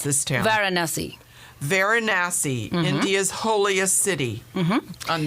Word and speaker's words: Varanasi: And then we are going to the airport, and you have to pronounce this town. Varanasi.